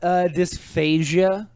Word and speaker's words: dysphagia: Use I learned about dysphagia, which has to have a hard G.